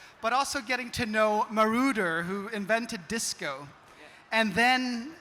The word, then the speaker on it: Moroder: shared with us, but also getting to know Marauder, who invented disco. And then, to know is that how you pronounce his name? Yeah, Giorgio Moroder.